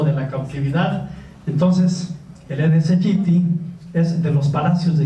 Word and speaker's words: Aedes aegypti: Por ejemplo, hay un mosquito que se llama el Aedes aegypti, que no lo pronuncian bien las personas, es el Aedes aegypti.